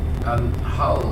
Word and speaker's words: Hull: Hull has a silent H.